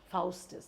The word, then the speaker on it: Faustus: Faustus Faustus that is how the Germans pronounce it not that my pronunciation of all the other titles was right but still dr.